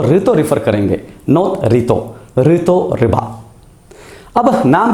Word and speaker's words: Rito Riba: मतलब उनके नाम का जो लास्ट सिलेबल है वो है रि, एंड अकॉर्डिंगली रीतो का नाम ऋतो है, ऋतो रिबा, नॉट रीतो रिबा।